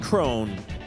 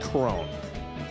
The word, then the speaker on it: Crone: I pronounce it Crone because there's a Major League Baseball player with the last name of Crone, and it's spelled that way. So, as many other people might pronounce it Cron, I actually think it's pronounced Crone. So, just my own little 2 bits there.